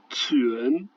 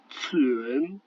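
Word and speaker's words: 泉: La lettre Q, elle ne se prononce pas du tout comme en français. Alors ça va être l'équivalent d'un ts long. Par exemple ici, pour dire une source, ça se prononcera tsuen, tsuen.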